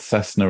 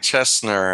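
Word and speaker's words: CESNUR: think italy is it called cessna or something chestnut i think is how it's pronounced c-e-s-n-u-r which brings these people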